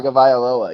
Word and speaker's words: Tagovailoa: Tagovailoa. Even I I know can't that.